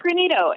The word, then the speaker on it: Greenito: about the name pronunciation I was saying like granito and it sounds like that's kind of what you said is that name it's granito and it is not a a word that